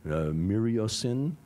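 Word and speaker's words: myriocin: testing a drug called miriocin, and maybe who's Italian here? Any Italians in the group? No, then I can get away with it. I'm going to pronounce it the Italian way.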